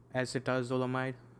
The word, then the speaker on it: acetazolamide: metabolic acidosis right so acid acetazolamide that's how you pronounce that uh causes alkalosis of